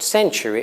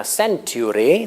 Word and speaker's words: century: I found out that they think that century is pronounced century. Now, century, this is the pronunciation they give you, is basically not an English pronunciation, okay?